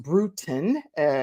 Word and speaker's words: Brutin: brutin is pronounced brutin like kind of brewing a tea type of thing and she is a